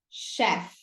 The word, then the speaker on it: chef: Essa palavra aqui da esquerda, você pronuncia chef. Chef. Ó, não tem aquela trava da língua entre os dentes, né? E a palavra da direita, cheap.